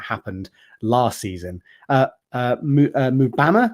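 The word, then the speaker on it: Mbeumo: last season uh uh mubama I believe is how you pronounce that he is also in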